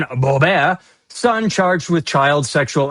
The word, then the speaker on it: Boebert: door next story Lauren Boebert and I know I'm saying it wrong because I like to French it up Lauren Boebert son charged with child sexual exploitation.